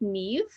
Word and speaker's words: Niamh: It's Celtic, it's Irish, it's pronounced Niamh, but it's spelled Nimh, just to confuse everybody.